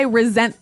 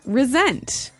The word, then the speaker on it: resent: Resent. Okay. Now, this is spelled exactly like resent, like with an S, right? That's right. R E S E N T. But you pronounce it like a Z.